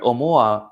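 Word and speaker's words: ʻOumuamua: cold okay to call it call it pronounced pronounce means to say okay say it o mua which is hawaiian for a messenger from afar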